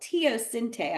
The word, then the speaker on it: teosinte: Native Americans selectively bred it's called teosinte, I believe is how they say it.